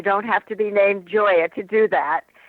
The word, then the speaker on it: Gioia: And I want to spell your last name for everyone because it's pronounced Joya, but it's spelled G I O I A.